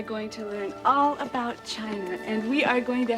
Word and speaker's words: Qin: the Great Wall of China was designed by the emperor Qin was a spur excusing I see more it is pronounced chin Thank You mr.